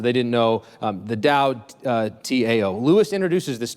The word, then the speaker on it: Tao: it's fundamentally about what C.S Lewis called it down the rest of my time is going to